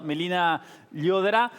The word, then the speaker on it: Melina Llodrá: Yo creo que sí hay que preguntarle a Melina Llodrá. Sí, vamos a preguntárselo entonces a nuestra especialista que está del otro lado, Melina Llodrá, que es justamente especialista en compliance internacional.